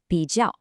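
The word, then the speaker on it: 比较: Now, listen to that sound again, 比较. Does that kind of sort of sound like BGs plus someone shouting ow?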